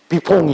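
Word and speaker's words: Buffon: 부폰인데 이 사람의 스펠링은 똑같은 거예요. 부폰이에요. 근데 이탈리아 사람이고 프랑스에도 그 비퐁이 있었습니다.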